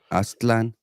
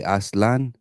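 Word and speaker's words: Aztlán: talking about Aslan yes that's the proper way to pronounce it a lot of people say asan Aslan but it's not it's Aslan Aslan okay okay this it's like a it's like a ASC Aslan yeah the clan and that's how you properly pronounce it but I even make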